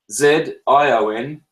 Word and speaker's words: zione: In Italian, that's Z-I-O-N-E, and you say that like a T-S, zione.